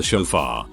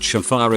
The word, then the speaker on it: shofar: going to blow the shofar that ram's horn thing and he talked about what it was going to symbolize and all but he pronounced shafar exactly like chauffeur so i was just